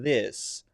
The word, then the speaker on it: this: this this this now one common mistake here is to pronounce this with a d sound big mistake that sounds like this this this this this this this this d i s is something you see people text often to replace this right this this okay but it sounds different and is not the correct th sound then the unvoiced sound